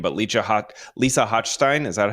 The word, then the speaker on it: Hochstein: I don't watch Real Housewives of Miami, so I'm sorry if I'm butchering this lady's name, but Lisa Hochstein, is that how you say her name?